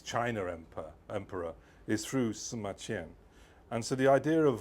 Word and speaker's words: Sima Qian: Uh well, Simma Chen, you'll have to read the book. There you are. There's a copy over there. Um Simen as you know, or Sumachen as you could correctly pronounce it.